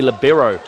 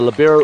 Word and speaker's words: libero: There's a lot of ways to pronounce that word. It is an Italian word, L-I-B-E-R-O, libero. Heard of a lot of interesting ways it's been pronounced as well.